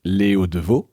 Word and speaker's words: Léo Devaux: J'ai le plaisir de recevoir aujourd'hui Léo Deveau. On le prononce bien comme ça ?